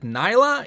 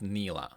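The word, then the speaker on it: Nilah: this before i learned that nyla is actually pronounced neela alright sit down buddy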